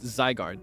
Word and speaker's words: Zygarde: It's Zygarde, like zygote.